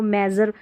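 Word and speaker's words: measure: यहाँ देखिए इसको मेज़र, इसको मेज़र पढ़ेंगे, मेज़र नहीं पढ़ना है, मेज़र, मेज़र, मेज़र पढ़ देंगे तो उच्चारण सही नहीं, मेज़र, मेज़र करना मतलब मापना।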